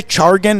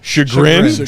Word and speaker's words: chagrin: Chargan? That's not how it's said. Chagrin?